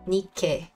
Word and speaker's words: Nikke: Like, I never really knew how to pronounce it. Nikke.